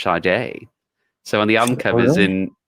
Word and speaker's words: Sade: like Sade like si de but it's actually pronounced Sade so on the uncovers in yeah on the album covers in America is said Shaddai and then an in parentheses pronounced Sade you know phonetically but yeah they they were